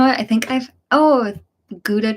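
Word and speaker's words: Gouda: I think I've oh goua cheese I guess you guys pronounce it Howa though okay that sounds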